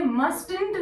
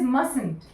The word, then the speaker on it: mustn't: Haste का spelling HASTE and mustn't, इसको pronounce करने के लिए mustn't नहीं बोलना है, it is mustn't. That is how it is pronounced.